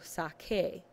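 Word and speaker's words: saqué: r and g r when you conjugate sakar you want to make sure you are still pronouncing it y sake and you need the quu E with the accent as your conjugation to maintain that pronunciation for hugar same goes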